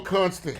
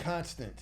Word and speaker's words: Constant: Constantine or Constant? Constant. Or constant. Yeah. Like a constant word.